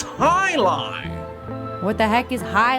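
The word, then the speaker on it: jai alai: the heck is a gia lie it's pronounced high lie what the heck is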